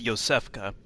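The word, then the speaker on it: Iosefka: found yourself a hunter so the way you pronounce that name is Yosef kheh interesting name let me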